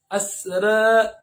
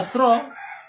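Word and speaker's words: أسرى: Asra, asra, asra. Kok enggak asro? Bacanya kok asra? Itu namanya qiraat Nafi' riwayat Warosh.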